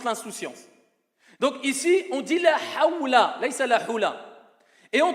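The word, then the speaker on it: لا حول: La hawla, ce n'est pas la hula.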